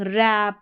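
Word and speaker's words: wrap: तो यहाँ पर देखिए पैटर्न 5th में है डब्ल्यू आर, यहाँ पर जो है डब्ल्यू साइलेंट रहता है, डब्ल्यू आर का कॉम्बिनेशन रहेगा और डब्ल्यू यहाँ पर साइलेंट रहेगा। तो ये देखिए स्टार्टिंग में डब्ल्यू आर है और यहाँ पर जो डब्ल्यू है वो साइलेंट है। राइट, रॉन्ग, रैप, रिस्ट, तो यहाँ पर आर से उच्चारण हो रहा है, डब्ल्यू साइलेंट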